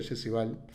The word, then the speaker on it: Jesse Ball: Por lo tanto, lo que le rescato a Val, creo que se pronuncia Jesse Val, es esa intención permanente